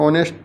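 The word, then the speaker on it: knee: silent letter of honest nest में जो silent letter वो एच है बहुत महत्त्वपूर्ण एक नी का था तो उसमें के जो है साइलेंट लेटर था आगे देखेंगे तो अपोजिट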